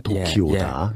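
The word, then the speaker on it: 時生: 그래서 이거를 일본말로 시생을 일본말로 도쿄라고 읽어요. 그걸 읽으면 도키오다.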